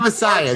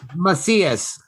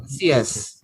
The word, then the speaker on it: Macias: Not Messiah. Jesus. Macias. at once they actually call me too. Macias. Macias. Kind of like Casillas.